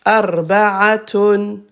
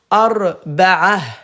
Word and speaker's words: أربعة: Arba'atun. Arba'atun. Arba'atun. Et à l'arrêt, ta se prononce ha. Ha. Ha. Ha. Soukoun. Donc on va dire arba'ah.